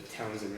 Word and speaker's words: Townshend: It's a silent H.